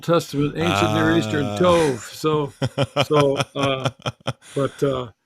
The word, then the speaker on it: Tov: Tov. So, but I grew up saying the long O's, low Tov.